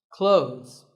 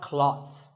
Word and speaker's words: clothes: Clothes. But what's silent here? Well, first of all, this word is not cloths. When we say clothes, the TH in the middle can often be silent. Clothes.